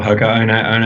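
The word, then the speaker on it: Hoka One One: We know that hardcore runners are generally aware of Hoka 1-1 or Hoka One if I use the correct Polynesian pronunciation, which I usually don't.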